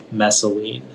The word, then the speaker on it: messaline: there any alternate pronunciations oh it's just the one messaline masoline can you repeat